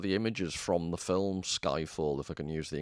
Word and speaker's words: Skyfall: an English word, and it's actually from Swedish, Skyfall. Or I think a proper Swedish pronunciation might be Skyfall.